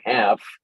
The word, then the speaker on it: half: that have l for the l is not pronounced i don't know if chuck can think of another example similar to half oh yes yes in